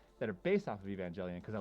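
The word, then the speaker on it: Evangelion: Like I've heard people pronounce the name of that anime differently. Evangelian.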